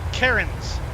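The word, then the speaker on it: Cairns: Australia right now and he's calling it Karens well that's what I've been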